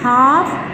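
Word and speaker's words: half: एल कब silent होगा? एल is often not pronounced, often है अक्सर, हमेशा नहीं। Before L डी एफ एम के, एल डी एफ एम के क्या है उसके बाद बिफोर, उससे पहले ये नहीं बोलेगा। काम, हाफ, talk, walk, would, should, इनमें देखो कि एल आपका साइलेंट है।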